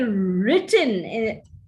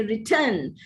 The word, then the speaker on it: written: You say written, written has to be accented on the first syllable, but some Indians tend to accent it on the second syllable and say return.